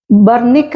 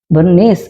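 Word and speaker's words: Bernice: എ സി ഇ കന്തക്ക് ബർണിക്ക എന്നൊരു രാജ്ഞിയെ കുറിച്ച് പറയുന്നുണ്ട് ബെർണീസ് എന്ന് ഇംഗ്ലീഷിൽ പറയും പക്ഷെ അല്ലെങ്കിൽ ശ്രദ്ധിച്ചാൽ ബി ഇ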